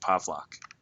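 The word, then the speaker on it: Pawlak: The W's are pronounced like V's, which is why my last name, which is spelled with the W, is pronounced Pavlak.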